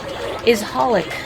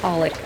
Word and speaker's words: Holic: a satisfying conclusion, is Holic by Clamp. Yeah, I know it's written XXX Holic, but you don't pronounce those. It's just Holic, apparently.